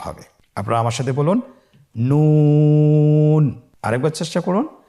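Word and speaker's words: نون: আপনারা আমার সাথে বলুন নুন। আরেকবার চেষ্টা করুন নুন। নূর হরফটির উচ্চারণ স্থান হচ্ছে জিহ্বার আগা তার বরাবর উপরে তালুর সঙ্গে লাগিয়ে উচ্চারিত হয়।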